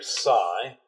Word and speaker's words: psi: cosine beta plus psi that's another greek letter psi that's how it's spelled phonetically i would spell it s i g h i better put a